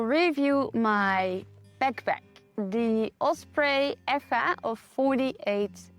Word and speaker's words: Eja: In this video, I will review my backpack, the Osprey EA of 48 L. It's actually pronounced Asia, but as I hike in Spain, I pronounce it in Spanish, EA.